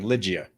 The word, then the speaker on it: Ligia: Ligia. Oh, thank you. Sorry about that. No worries. No happens all the time. Yeah. All right. Mike and Ligia.